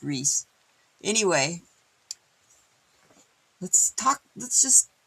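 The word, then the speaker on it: Ruiz: I'm sorry if you don't speak Spanish. Ruice. In Spanish, it's pronounced Reese.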